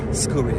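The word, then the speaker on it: Scuri: Your surname Scooi.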